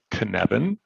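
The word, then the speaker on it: Cynefin: called uh is pronounced kaneben um so the f sounds like a v it's a welsh word that means the place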